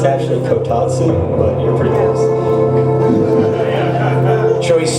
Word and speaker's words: kotatsu: It's actually kotatsu, but you're pretty close. Choice C, final answer? That's the way we spell it on this side.